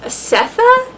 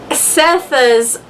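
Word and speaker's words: Sethe: in Cincinnati Ohio and it revolves around setha I think is how you say it it's s-e-t-h-e um who is a reformed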